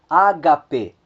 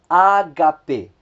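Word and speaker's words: ἀγάπη: nós temos logo abaixo três palavras cuja a acentuação ela acontece na penúltima sílaba nós temos a palavra por exemplo Ágape Ágape Amor nós temos a palavra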